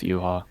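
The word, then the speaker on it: Yhwach: It's pronounced Yuha.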